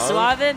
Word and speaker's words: suave: Suave means like, well, suave, that's the English pronunciation of it, suave. So I've been saying it wrong this whole time. How do you say it in Spanish? Suave. Yeah, that's fine. But in like, English, it's suave.